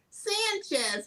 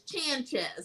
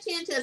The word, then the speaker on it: Chanchez: Because I always want to say Sanchez, but it's Chanchez. I love that. Hosea Chanchez.